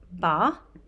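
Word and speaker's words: 八: hopefully this first number the number eight is pronounced ba so this is one of the most auspicious numbers in Chinese culture it is associated with wealth and prosperity because the pronunciation of ba sounds similar to the worth the word for wealth or Prosperity far now when I was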